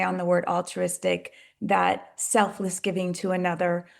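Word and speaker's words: Alltruistic: Altruistic is spelled A L L T R U I S T I C. All is our collective. True as if it's already a reality. And Istic allows us to play on the word altruistic.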